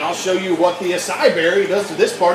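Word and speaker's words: açaí: It's got an A-C-A-I. I think there's a little thing on the C.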